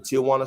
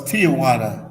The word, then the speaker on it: Tijuana: I usually was checking out Mexico from the Tijuana side, the San Diego.